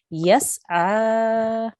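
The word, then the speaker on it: يَسْعَىٰ: We will pronounce this as yas'a. Yas'a. Good, well done. You have 2-second prolongation because of the vertical fatha.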